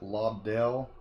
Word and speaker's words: Lobdell: Looks like the creators on this is Scott Lobdell, I think is the way it's pronounced, Mike Johnson, Kenneth, I think it's Rockefort, Aaron Cooter, and Eddie Barrows.